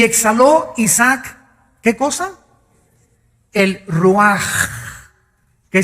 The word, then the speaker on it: ruach: El Ruaj. que se escribe r u a c h ruach en el hebreo y se pronuncia igual ruaj.